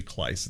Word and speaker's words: Kleis: do you pronounce it it's klice so uh you but your pronunciation is how it should be according to how it's spelled but uh you know it's actually clice it sounds like nice but not okay and uh and